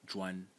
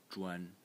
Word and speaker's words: 專: So this phonetic series is led by the title phonetic element, which is pronounced zhuan, zhuan in the first tone, and zhuan means special, specialist, or an expert.